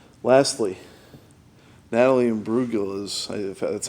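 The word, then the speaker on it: Imbruglia: hand hit the dial probably not lastly natalie and brugel is that's how you pronounce her name torn i don't remember much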